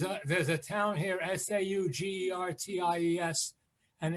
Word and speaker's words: Saugerties: the river there's a there's a town here s-a-u-g-e-r-t-i-e-s and it's saugerties and people call it sour gertie so it's or sugar times yes all right well i'm just like i